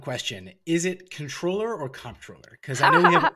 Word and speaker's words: comptroller: say linguistically speaking right the correct term is controller even though it's spelled with a c-o-m-p-t right uh but you